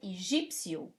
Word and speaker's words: Egípcio: The same way in Portuguese you say Egipto for Egypt, and you say Egípcio for Egyptian. It's there, the P is there.